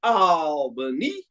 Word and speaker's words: Albany: on the road as Brandon King says it's pronounced Albany just letting everybody know uh Mike tells us